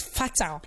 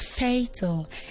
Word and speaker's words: fatal: So growing up, I learned it as fatal. Until I did my research, used my dictionary, I figured that that particular word is supposed to be pronounced as fatal and not fatal.